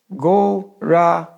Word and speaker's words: Gauranga: For this meditation, we're dividing Gauranga into 4 syllables, Gauranga.